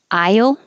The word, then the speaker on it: aisle: Aisle, as in the grocery store aisle or church aisle, is the same as I will, aisle.